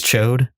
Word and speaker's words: Chod: I love Chod. I love Rasa. I thought it was a little. The proper pronunciation is Chode.